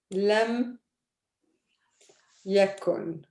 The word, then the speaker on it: لم يكن: So it's pronounced like this. لم يكن.